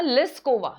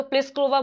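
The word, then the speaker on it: Plíšková: इन्होंने जेक रिपब्लिक की Karolina प्लिस्कोवा, Carolina लिस्कोवा, लिस्कोवा बोलते हैं हम, तो प्लिस्कोवा बोलेंगे क्योंकि हम इंडियन है, राजस्थानी है, पी आएगा, पर इसमें पी क्या है? साइलेंट है, ठीक है, इंग्लिश में।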